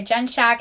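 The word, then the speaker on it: Jenshak: to say the name let me look it up Shack Shack I love shack okay the next book I gave five stars was Playbook by Rebecca Jens Shack this is technically the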